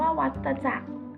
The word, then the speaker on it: วัฏจักร: จาก ชีวิต ของ ยุง คำ ว่า วัฏจักร อ่าน ว่า วัฏจักร ซึ่ง เรียก อีก อย่าง